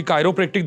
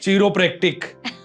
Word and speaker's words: chiropractic: शब्द है कायरो प्रेक्ट बहुत सारे लोगों को प्रोनाउंस करना भी नहीं आता है बहुत गलत प्रोनाउंस करते हैं लोग हमारे पास कॉल्स भी आती हैं यह सब क्याक प्रोनाउंस करते हैं प्लीज व भी बताइए जरा चीरो प्रैक्टिक है ना बहुत सारे नाम